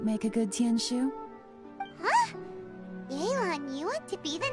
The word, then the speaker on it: Yelan: I don't know why they keep pronouncing it like that. Yelan. I'm just gonna keep saying Yelane, no matter what. What do you think? Don't care if y'all correct me either. Yelane, not Yelan.